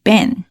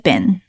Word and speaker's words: been: You know 是一个 filler word，当 you know 的时候，它一般会用声调，会提起后面要让你注意的东西。第二个点就是这个 been 的发音，很多人看到 double e 会想当然的认为它发长音的 e，been right，但是不是哦，它发的是短音的 it，所以呢是 been I've been，再往后同时出现了 flap t 和 flap d， fired a